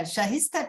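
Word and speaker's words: Shaista: you nearly what uh shahista just said am I pronouncing your name correctly yes perfectly so um if you can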